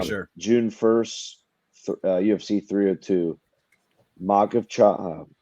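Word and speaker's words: Makhachev: fights yeah for sure June 1st UFC 302 mock of ch pronounce it for me Trey you're good at these makach versus porier uh June 1st Islam you mean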